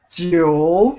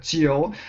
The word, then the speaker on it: 九: 九 Jiu. Yes, very good, very good. Jiu. So when you pronounce this G sound, make the same tongue position in your mouth as you pronounce the Qi sound.